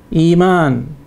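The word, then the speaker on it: إيمان: In the same way, iman.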